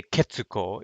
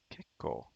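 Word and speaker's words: 結構: it becomes this kekko so you won't say kitsuko if if it's the these kanji's right so if you have this kanji ke koatsui it's pretty hot i did that wrong right so the pronunciations are ketsu and but you wouldn't want to read this as kitsuko when a kanji with this guy is conjugated then it just becomes kekko something to keep in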